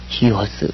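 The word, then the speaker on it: υἱός: 액센트는 아직 안 배웠고, 그래서 위오스라고 읽지 않고 휘오스 그렇게 읽습니다.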